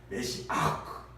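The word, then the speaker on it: מָשִׁיחַ: 히브리어로 메시아는 메시악. 메시악. 발음 이거 뭐야? 그 액센트가 확실하게 메시아 이렇게 쭉 이렇게 뭐야, 쳐지는 소리가 아니라 정신이 바짝 드는 메시악.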